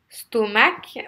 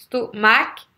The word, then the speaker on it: stomach: os mac vous savez stomach vous avez en fait vous allez accentuer la première syllabe vous avez deux syllabes ce taux est mal vous accentuez la première est pas l'envers si